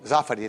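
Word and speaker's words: Zaffari: É bom, e você pronunciou certinho. Zafari, né? É, porque tem muita gente que não pronuncia certo.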